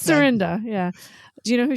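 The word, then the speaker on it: Cyrinda: Cynria. I imagine. But I imagine that's how David Johansson would pronounce like Sandria. New York. It's Surrenda.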